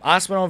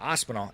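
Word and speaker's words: Aspinall: Um, Ospelon versus Why did I say his name like that? Aspenol.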